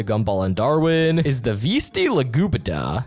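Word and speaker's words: Vesti la giubba: The song that plays as Banana Joe points to Gumball and Darwin is the Vesti La Gubita, pronounced Vestili La Juba, by Ruggiero Leoncavallo.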